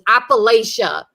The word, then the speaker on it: Appalachia: But the great debate is like Appalachia or Appalachia, and the correct pronunciation is Appalachia.